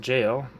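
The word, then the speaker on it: gaol: words so we learned g-a-o-l is pronounced jail which is just a different spelling of jail and we learned that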